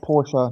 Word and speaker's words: Porsche: pronounced Porsche, not not Porsche, which is where I first learned of its true pronunciation. Bluegrass says be. Okay. Okay. So, Okay. So, Porsche is German. Well, that explains the E at the end.